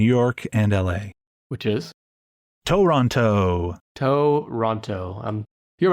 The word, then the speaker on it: Toronto: If you're going to live here, the first thing you got to do is lose that extra T at the end. It's just Toronto.